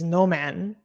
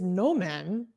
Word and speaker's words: Newman: I'm confused, but he's telling us it's Noman now. I will trust him. Okay, no. We will switch to no man from now.